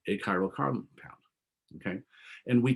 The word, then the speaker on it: achiral: compound that's a-c-h-i-r-a-l okay so occasionally if you're talking too fast you'll say hey this is a chiral carbon or this is an achiral carbon so be careful how you say it sometimes i'll say